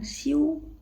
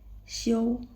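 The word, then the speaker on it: xiu: Ini bacanya bukan siu tapi show si show si ya kan.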